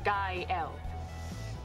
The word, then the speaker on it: Gael: gael hola kyle kyle it's pronounced guy l it means joyful that